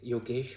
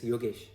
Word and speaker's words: Yogesh: name is Yogesh, but I don't say Yogesh when I'm in my native tongue, it's Yogesh.